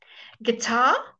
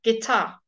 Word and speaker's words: guitar: he was a wolf guitar get Tom we don't say that you guitar we don't say guita we say gay Tom guitar and this is particularly